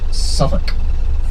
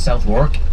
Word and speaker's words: Southwark: We're about to come into the area of major verbiage, the area known as Southwark. You'll read it as Southwark, but pronounced Southwark, and it's the area of Billy Shakespeare.